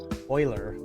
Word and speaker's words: Euler: theorem that pronounce oygen i know everyone pronounces it euler but it's apparently supposed to be euler jack jack is easier